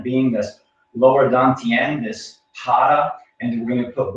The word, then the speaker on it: hara: In Japanese martial arts, it is referred to as the hara. H-A-R-A, the R is pronounced like a D.